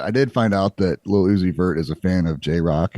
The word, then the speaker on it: Lil Uzi Vert: Lil Uzi Vert.